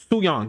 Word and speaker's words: Su Yang: Japanese Undertaker was her uh Su um Suang. Su Yang. I knew I thought I was right. I thought I was right, but I was like, let me make sure I pronounce it correctly. Suang.